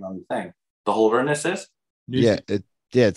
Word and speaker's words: Holderness: Holderness. Yes. The Holderness family. That's not easy fucking. What's their team name when they like show the name on the thing? The Holdernesses?